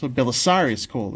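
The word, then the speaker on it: Belisarius Kell: And the idea being that, you know, whenever Belisarius Call, whatever, if that's how you pronounce his name, it's Belisarius Call is how you pronounce it.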